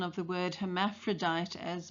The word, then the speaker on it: hermaphrodite: Scout's mispronunciation of the word hermaphrodite as morphodite serves to endear her to us, the reader.